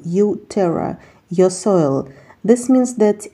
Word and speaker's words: uTerra: in soil when pronounced this name sounds like a combination of the English word you and the Latin word soil U Terra your soil this means